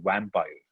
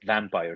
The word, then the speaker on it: vampire: i used to say i used to pronounce b as well so if i have to say vampire i would say vampire it sounds exactly the same vampire yeah the correct one is vampire so you bite down